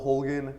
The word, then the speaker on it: Holguin: is it pronounced how's your name pronounced well my name is Hogan I come from Kansas City I was born